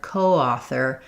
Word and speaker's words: coauthor: In coauthor, this one's going to get a little bit more stress because my coauthor, it's going to have secondary stress while author is going to have the main stress.